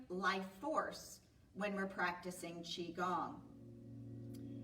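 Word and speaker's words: qigong: Tai Chi, first of all, is spelled T A I C H I. Chiong is Qi G O N G.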